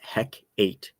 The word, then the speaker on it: Hecate: So the CGS Hecate is, and yeah, it's pronounced Hec8.